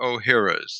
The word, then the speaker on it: Ohhira's: But the probiotic that my company imports from Japan is called Dr. O'Hara's, and that's spelled OHHIRA. And years ago, Dr.